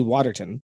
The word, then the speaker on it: Watertown: You guys say Watertown. What do you? Well, like, okay, so we'd probably say Waterton. That's Like, you guys pronounce the You're whole missing thing.